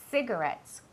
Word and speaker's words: cigarettes: La C y la I siempre tienen un sonido que es como si fuera una S, ¿vale? Cigarettes, como city, ¿vale?